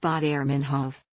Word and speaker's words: Baader-Meinhof: phenomenon and it's stuck by the way it's pronounced thought airman Huff the takeaway there you have it baader-meinhof phenomenon is when that thing you recently found